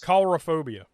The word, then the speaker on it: coulrophobia: What's the pronunciation for the fear of clowns? Coulrophobia.